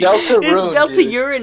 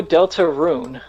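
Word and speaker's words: Deltarune: is wrong with you Delta urine a or something like that right no Delta rune okay when are you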